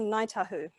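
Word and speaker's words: Ngāi Tahu: And this one comes from Ngaitahu. So Ngaitahu don't actually call themselves Ngaitahu. They don't use the NG consonant blend. They use a K in place. So if you try saying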